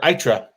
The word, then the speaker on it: Eitri: Eitri or Itra? B. Eitri. It is Eitri.